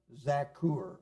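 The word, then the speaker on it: Zaccur: He was the son of Zakur. Again, a short A because of the double consonant.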